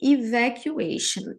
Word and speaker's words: evacuation: Emergency evacuation. Emergency a gente já sabe que é emergência. E evacuation. Shan, tá vendo agora? Aqui, ó. Shan. Aqui é a mesma pronúncia.